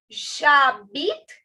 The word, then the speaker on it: j'habite: to do is say j'habite à and then your city's name. Okay, first things first. This is j'habite. Again, the H is silent, the E is silent.